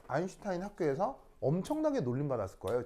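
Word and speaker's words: Einstein: 씨가 누굴까요 일성이 원스톤 아인슈타인 울톤 바로 아인슈타인 아 왜 아인슈타인 성이요 독일어로 아인이 1입니다 이게 스타인이 아니고 슈타인 슈타인도 이게 s 티면를 쉬 발음을 내거든요 독일어에서는 슈타인이 하는데 슈타인이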